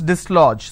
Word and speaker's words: dislodge: du s l j even though the letter J is absent but this but this letter G carries the J sound okay so when you